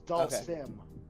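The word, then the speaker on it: Dhalsim: And how do you pronounce answer. the name? It's Dasim. Dasin, It's Dalsim.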